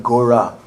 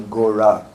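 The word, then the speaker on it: Gaura: It's not spelled G-A-U-R-A, which is the way it's usually spelled when we transliterate. But this time it's spelled G-O-R, long A. And what is that? Gora, spelled in that way, means the same as Gora. But it has another special kind of meaning.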